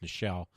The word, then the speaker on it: Nichelle: I think it's Nichelle, because it looks like Michelle, but it's with an N. It is pronounced Nichelle.